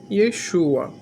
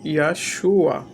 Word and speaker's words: Yeshua: Eu me deparei aqui com alguém nos comentários que disse que a pronúncia original do nome do Messias não é Yeshua, mas Yahshua.